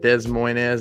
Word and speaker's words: Des Moines: But get to travel to exciting places like Des Moines, Iowa.